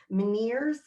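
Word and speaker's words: Ménière's: any clients with and forgive me if i mispronounce this meneers m-e-n-i-e-r-e-s so meniere's disease you know it is a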